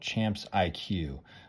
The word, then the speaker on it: Champs IQ: I tried with one of my players called Champs IQ. Kind of confusing because it's spelled different.